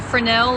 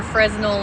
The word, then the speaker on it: Fresnel: He has a Fresnel or Fresnel lens, 18-inch.